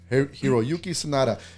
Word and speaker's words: Hiroyuki Sanada: Hiroyuki Sanada.